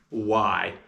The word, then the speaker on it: why: for a reason and the sounds of why are w i why and you might notice that you don't hear the letter H in that word you might think of it as a silent letter or the W is